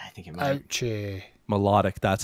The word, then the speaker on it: Milotic: Melodic, that's how it's pronounced. That was my second guess. Sure. Milotic.